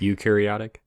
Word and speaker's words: eukaryotic: How do you pronounce it again, Nick? Eukaryotic.